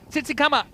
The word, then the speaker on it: Tsitsikamma: He's watching from Tsitsikamma in South Africa. Well, I love South Africa. Say it again. Tsitsikamma. Okay. No clicks in it, so I handled it all right.